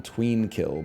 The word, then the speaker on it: Tweenkill: I guess it's more like Twinkle than Tween Kill, but that's my bad. I missed the pronunciation guide. It's Tweenkill, okay?